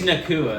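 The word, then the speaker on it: Nacua: that Puka Nuka is getting. He's on my. Puka Nuka passes the eye. Is that really his He name? passes it. How do you pronounce it? It's Nakua. Nakua.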